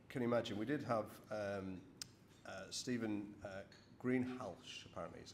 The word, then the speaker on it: Greenhalgh: So, as you probably can imagine, we did have Stephen Greenhalgh, apparently is how you pronounce it.